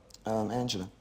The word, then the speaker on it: Angela: Angela.